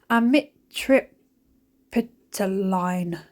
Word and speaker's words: Amitriptyline: Amitriptyline.